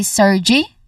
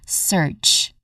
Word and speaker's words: surge: There's a silent letter E in this word. We do not say sergy but we say surge. Okay. We end the word with a J sound.